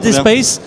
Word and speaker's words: dSPACE: Raphaël, vous êtes ingénieur d'affaires au sein de Dayspace. Alors, est-ce que vous sauriez, d'abord, est-ce que je le prononce bien? Oui, Dayspace, à l'anglaise.